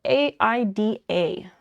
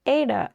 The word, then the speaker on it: Aida: So cross stitch fabric, the name of it, it's spelled A-I-D-A. And I'm sure everyone pronounces it differently, but it's like Ada, Ida, Aida.